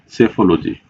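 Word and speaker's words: psephology: यहां पे friends piece silent है। इसको कैसे प्रोनाउंसिएशन करते हैं? सेफोलॉजी, जीनियोलॉजी और हेलियोथरेपी।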